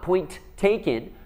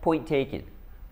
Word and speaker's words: point taken: We have two T's, so it's not point taken, but point taken.